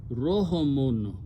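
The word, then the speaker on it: رُحْم: The Quran is using another word here which has a pesh or dhamma on the ra and pronounced as Rohamun.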